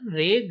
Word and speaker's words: री: आर हिंदुस्तानी रे, कार्नेटिक री।